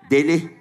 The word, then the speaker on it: deli: Looney Tunes Loco crazy Loco daily everyone said daily that's Turkish for crazy Loco daily not the sandwich daily the crazy Deli spelled the same way d-e-l-i so everyone say daily